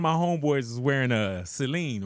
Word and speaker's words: Celine: Is it Celine or Yeah, Celine.